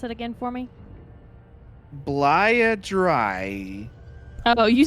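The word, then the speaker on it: Bleia Dryiae: of vowels in this one space can you pronounce it again for me blaia dry oh you said diarrhea last time dryer oh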